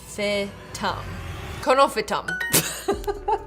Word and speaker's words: Conophytum: How to pronounce? Conophytum.